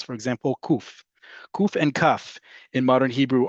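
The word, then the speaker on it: קוף: But kuf, if you come from communities, particularly in the Middle East, you would pronounce it as quf, much farther back in the throat.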